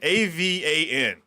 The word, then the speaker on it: Avan: Is it Evan or Avon? Evan, A-V-A-N. AVAN. Wow. Avan. That's different.